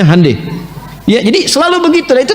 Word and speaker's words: Hyundai: Honda mereka bikin Handai Hyundai itu dibacanya Handai ya jadi Selalu Begitu